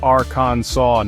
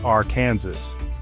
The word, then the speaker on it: Arkansas: In 1881, the state legislature officially ruled the pronunciation must be Aransaw, not R. Kansas.